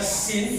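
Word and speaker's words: س: Kalau ini bacanya sin itu tipis, kalau yang ini ini penuh, mulut kita jadi penuh.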